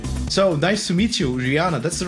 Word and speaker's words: Riana: own here's peter so nice to meet you rihanna that's the right pronunciation of your name eh it is rihanna cool now you are awkward yeah i